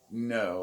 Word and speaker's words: Ngo: because this is important andy no his name's andy no i believe it's pronounced no it's ngo he's one of the